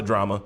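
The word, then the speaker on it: Jrama: past for the homie Drama, that's Drama with a J. Fucks with him. What? But What? Drama with the J. J-R-A-M-A. But you pronounce it drama.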